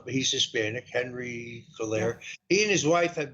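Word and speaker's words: Cuellar: congressional district, where the congressman there, I always mispronounce his name, I guess it's Coulaire. He's Hispanic, Henry Coulaire.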